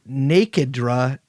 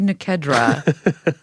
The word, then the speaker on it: Nikedra: He's married at one point to a woman named Nakedra Charles. No, why are you saying it? It's obviously Nikedra.